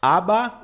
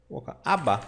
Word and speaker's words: aber: Aba. É como se fosse aba. Pensa numa aba do seu navegador. Aba. Tá? Você não diz aber. Não, aba. É que o R ele é bem suavizado, quase imperceptível.